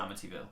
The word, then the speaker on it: Amityville: how to pronounce it is it like Amityville yeah oh Amityville not evil okay cool there you